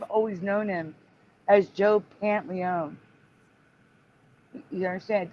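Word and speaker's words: Pantoliano: thing is for me the O is either silent or said really fast because I've always known him as Joe pant Leone you understand it's like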